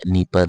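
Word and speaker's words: Dnieper: यहां पे D silent रहेगा। नीपर रिवर है यह।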